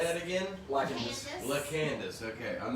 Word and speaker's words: LaCandace: LaCandace.